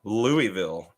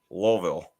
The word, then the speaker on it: Louisville: theory on it in Louisville oh gosh you're going to be in trouble it's not even Louisville it's Louisville it's Louisville now we've